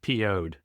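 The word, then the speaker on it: Piouhgd: d but it's pronounced poed as in pissed off so they had uh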